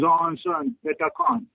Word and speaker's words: Aonsin Pethakhon: I want you to pronounce the words Aonsin, your name. Oh, my name. It's my name. My name is Aonsin Pethakhon.